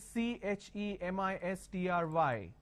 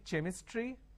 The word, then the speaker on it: chemistry: A word which is CHEMISTRY. Can I say chemistry? No. The pronunciation is chemistry.